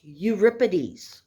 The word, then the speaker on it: Euripides: you'll see that it looks like europeanus it's pronounced euripides okay now euripides was even younger than his